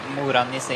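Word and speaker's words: Mora-Nisse: Is that how you pronounce it? Morenisse, yeah.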